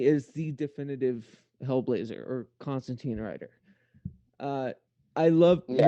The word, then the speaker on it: Constantine: Constantine or Constantine, as I'm told it's actually pronounced, but fuck it, I'm American.